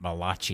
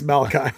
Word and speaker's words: Malachi: Well, I'm glad you said his first name before I had an opportunity, because I would have pronounced it Malachi. Malachi, no, it's Malachi.